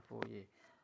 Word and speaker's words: Fourier: dikenal dengan hukum foye disini tulisannya fourier tapi membacanya foye tentang konduksi yang persamaan